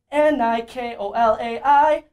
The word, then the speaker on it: Nikolai: You pronounce my name Nikolai. And the song is N-I-K-O-L-A-I.